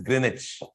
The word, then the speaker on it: Greenwich: meridian through London uh Greenwich g r double e n w i c h you write as Greenwich you pronounce as Greenwich London okay Greenwich Royal